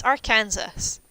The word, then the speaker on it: Arkansas: I guess, like, you guys have Arkansas, which makes no sense. It's Arkansas. But, yeah, people being willfully